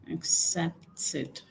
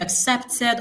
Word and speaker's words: accepted: Now pay attention when you're transcribing the E d in you know a word like accepted or wanted the ed there changes to like e that's the short e sound you don't say accepted like we say in Nigeria if you don't know that you need to know that now what we should actually say is accepted very important for you